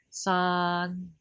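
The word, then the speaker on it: 山: The first one is double A. It means this a long A. This is same with the pinyin A in Mandarin, and for example, this one we pronounce it like san. San. San is mountain.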